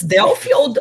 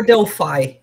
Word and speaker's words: Delphi: Delphi correctly so um it's delfield or Delphi I never know yeah I don't think anybody knows but both both are good yeah I I saw